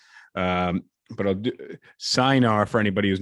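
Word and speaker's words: Cynar: radio call it a China and she said well it's Italian and that's how how you would say in Italian um but I'll do signar for anybody who's not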